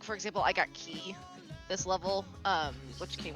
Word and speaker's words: Ki: the same thing but in D and D they're using the Japanese pronunciation which is key yeah okay I I